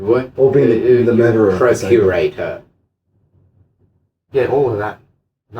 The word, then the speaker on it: procurator: hundreds and hundreds of years, you were incarnating as the Roman procurator, Yeah. if you will. It's not how you say it in Latin.